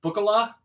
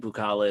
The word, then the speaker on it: Bookala: now on the Great bukala Escape and I say bukala because it's like buo it's it's spelled b o o k a l a yeah bu kalala buala